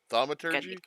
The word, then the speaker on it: thaumaturgy: If I can learn how to pronounce it. The Thaumaturgy?